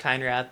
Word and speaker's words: Keinrath: It's pronounced Keinrath.